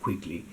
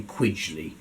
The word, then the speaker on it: Quigley: Connor quidgley Queen's Council I think he pronounced it quigly not quckly but I'm going to I'm going to say quidley this book is a